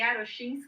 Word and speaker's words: Iarochinski: é muito bacana certo o seu nome aí arashin e já já eu vou colocar aqui o seu blog falei corretamente a pronúncia da segunda vez sim isso você fala